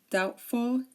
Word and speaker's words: doubtful: um these are silent we do not pronounce the b in these words when the t comes after the B such as DT doubt subtle dter doubtful and subtly subtly okay